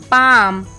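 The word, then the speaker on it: palm: एम ओ एन समोन पी ए एल एम पाम वाई ओ एल के यक एफ ओ एल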